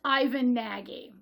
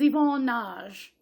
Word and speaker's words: Ivan Nagy: It was directed by, it looks like the name would be pronounced Ivan Nagy. Now, it is Yvonne Nagy, according to Ted.